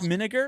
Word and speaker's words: Minegar: Minegar, just like vinegar.